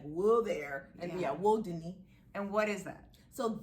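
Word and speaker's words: Wudini: w-u-d-i-n-i but you clarify it's not pronounced like houdini which is how it is it's not that so yeah it's world disney what yeah disney like will there and yeah woe dunny and what is that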